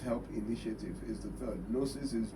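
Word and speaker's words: Gnosis: Nosis is G N O S I S. The G is silent.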